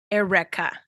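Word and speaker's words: Airwrecka: Erica now no no it's spelled a-i-r-w-r-e-c-k-a so it's like air and then wreck like you wreck something uh so is it supposed to be a Twist on Erica correct Erica Erica this but like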